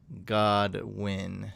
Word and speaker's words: Godwin: It's pronounced Godwin.